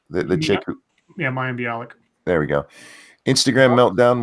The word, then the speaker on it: Mayim Bialik: I don't know how to say her name my am Balak legit yeah Mayim Bialik there we go Instagram meltdown where she has